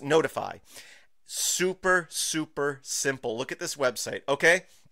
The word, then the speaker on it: ntfy: So again, it's ntfy.sh, so it's spelled, pronounced notify.